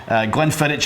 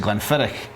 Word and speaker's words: Glenfiddich: lot of people say glenn phillich around the world but in scotland we actually pronounce it glenfiddich and it's a very